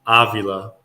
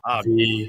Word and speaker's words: Avila: It's Avila. It's like Avila. Avila.